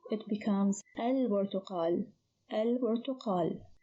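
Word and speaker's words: البرتقال: When we add L, it becomes al-burtuqal. Al-burtuqal. So here the lam is pronounced, the ba is unchanged, so the ba is one of the moon letters.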